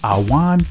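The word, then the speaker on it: עָוֹן: the law the Hebrew word for iniquity is pronounced Awan which means to pro pervert do perverse do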